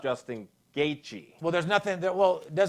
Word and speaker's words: Gaethje: It's just like I pronounced it on UFC the other day, Justin Gaethje, when it's Justin Gaethje.